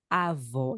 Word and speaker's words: avó: avó avô avó avô avó Então repita para que você memorize para que você pratique Av um sonido Cerrado Av e Av um sonido aberto um som fechado e um som aberto em português avô avó